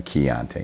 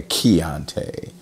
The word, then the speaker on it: Chianti: A Chianti, not a Chianti, but a Chianti. It's spelled accordingly, Chianti.